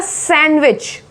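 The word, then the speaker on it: sandwich: सैंडविच, सैंडविच, सैंडविच बोलोगे तो वो गलत हो जाएगा, सैंडविच।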